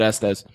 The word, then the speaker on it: Estes: Is it Estes? It is. All right, we have Wow, Jason- You pronounced it correctly. No one ever does. Really? I would have said Estes.